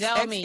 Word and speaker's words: Xiaomi: I don't think I'm pronouncing it well, but it starts at X. Xiaomi, yes.